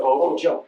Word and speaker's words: Hojo: Okay, hobo jitsu or hojo? Hojo. Howard Johnson.